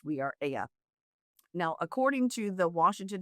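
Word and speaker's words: We Are Ella: It's spelled Ella, ELLA, but pronounced We Are Aya.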